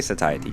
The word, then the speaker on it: satiety: But I guess it might have been like a British pronunciation to say Satiety. But uh I'm I'm gonna say Satiety because I kept looking them up and people kept saying Satiety.